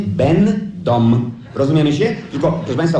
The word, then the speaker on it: będą: Na zgłoskę ę, piszemy ę, ale wymawiamy en, en. Piszemy będą, a wymawiamy będą.